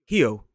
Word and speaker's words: Rio: But a Brazilian would pronounce that first R in the word Rio as H, Rio.